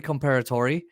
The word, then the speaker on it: Comperatore: is Corey comparator uh they pronounced his name wrong but it's Corey comparator and um man this